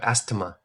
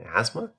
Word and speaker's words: asthma: and they're like oh yes uh you have Asma what what is Asma like you mean asthma yeah you know how they like to pronounce